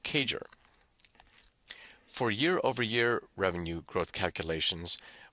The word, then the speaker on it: CAGR: periods where we use compound annual growth rate pronounced cager for year-over-year Revenue growth